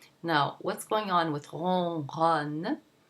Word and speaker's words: ronronne: There's the R with the nasal on sound. The N is not pronounced because it is not followed by a vowel. It's followed by another consonant, so you don't pronounce it. It nasalizes the O that precedes it.